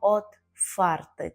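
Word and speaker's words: otwarty: собі друзів отфарти відкритий зверніть увагу також на вимову Ми кажемо отфарти так хоч пишемо графічну букву в але вимовляємо її як ф отфарти окрім того що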